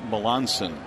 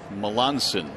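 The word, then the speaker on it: Melancon: Well, our apologies to the right-hander, but his last name is pronounced Melansen. Melansen, even though it's spelled Melanch.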